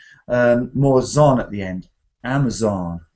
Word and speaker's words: Amazon: uh I think the amazonas yeah well that one has different pronunciations and different stresses so I say Amazon Amazon like this but some people in